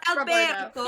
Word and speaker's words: Alberto: Well, it's actually pronounced Alberto.